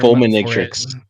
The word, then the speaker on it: Fulminatrix: I hear two different pronunciations. One's like the full manatrix and then there's like the full matrix. Like, all right, JJ, what is the official term? Fulminatrix. Fulminatrix is generally what I hear more.